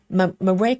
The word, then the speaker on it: Mora: Um, Amanda says, "Mara, um, Mora is is how it's pronounced."